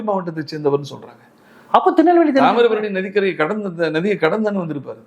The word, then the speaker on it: தாமிரபரணி: அப்ப திருநெல்வேலி தாமிரபரணி நதிக்கரை நதியை கடந்தான்னு வந்திருப்பாரு. தாமிரபரணி என்பது ஒரு 3ஆம் வகுப்பு படிக்கக்கூடிய பிள்ளை அழகாக உச்சரிக்கும். தாம்பரம் பரணி என்கிறார்.